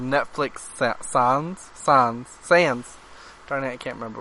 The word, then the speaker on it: Sans: Is it pronounced Sans? It's Sans.